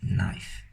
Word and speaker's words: knife: this is a cheese knife okay so I'm gonna right cheese cheese knife and for some of you that don't know a knife is spelled with a k it's a silent K she's nice here we